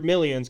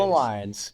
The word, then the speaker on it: Malines: I always said Andrew Millions because Millions. It's Malines. Andrew And you Millions.